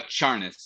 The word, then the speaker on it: Charnas: Charnas, yeah.